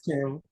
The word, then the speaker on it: Canva: Is that how I pronounce? Yeah, yes, sir, it's Canva.